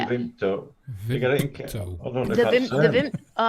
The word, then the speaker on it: Vimto: How do you pronounce that? Vimto? Vimto.